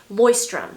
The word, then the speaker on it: Leuchtturm: I think it's German. I'll just put it here on the screen, but apparently it is pronounced Leuchtturm.